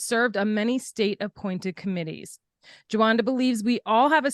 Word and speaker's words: Jawanda: I'm your host, Karen Guilbault, and today's guest is Jawanda. Did I pronounce that correctly?